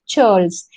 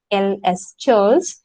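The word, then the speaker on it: ceorls: group called charles the see the spelling it's pronounced charles c-e-o-r-l-s charles and who were the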